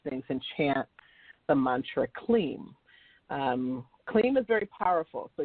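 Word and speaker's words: kleem: like this um there's a mantra that is clean and it's spelled k-l-e-e-m sometimes people spell it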